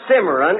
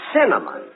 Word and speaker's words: cinnamon: a dozen simmeron rolls you still can't pronounce it can you look it isn't simmeron it's cinnamon now let me ask you